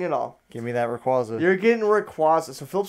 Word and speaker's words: Rayquaza: R-A-Y-Q-U-A-Z-A. R-A-Y-Q-U-A-Z-A. Okay. Or I guarantee, Rayquaza. I actually think that's how you're supposed to pronounce it, but I don't care.